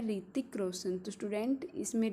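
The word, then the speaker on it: Hrithik: जो famous actress है ऋतिक Roshan student इसमें ऋतिक की स्पेलिंग आपको ढंग से चेक करनी है जो ऋतिक में ऐड साइलेंट होता है और स्ट्रेट किस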